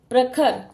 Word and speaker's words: प्रखर: द्र ह पंद्र प्रखर प व्यंजन के नीचे है पदेन की मात्रा तो र का उच्चारण प के बाद ही आएगा प्रखर प्रखर उम्र व्रत क्रम ग्रह